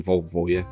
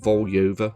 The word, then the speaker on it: Volyova: The character appears to be called Volyova, or at least that's how I would pronounce it phonetically.